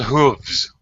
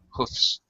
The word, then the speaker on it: hooves: They're called hooves. Hooves. Or there is an hooves or hooves. Either pronunciation is acceptable. Hoofs, or even in some cases hoofs with an F instead of a V.